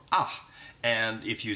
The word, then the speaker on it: A: And the first letter is A, and in Swedish that is pronounced A or ah.